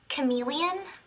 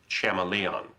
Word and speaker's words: chameleon: Um, Professor, uh, do you mean Chameleon? Betty, I'm pretty sure it's pronounced Chamalon.